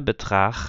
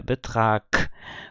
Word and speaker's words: Betrag: A pronúncia de Betrag não é Betrag, é Betrag, com som de K.